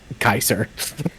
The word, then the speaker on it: Caesar: between the factions is if they pronounce uh Caesar's Legion as Kaiser.